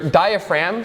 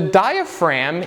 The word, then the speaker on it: diaphragm: And that would be your diaphragm. Sorry for the spelling. It's a pretty awful spelling, but it is what it is. Yes, there's a silent G in there, because why not?